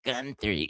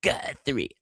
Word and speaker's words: Guthrie: It's not Guthrie, it's Guthrie.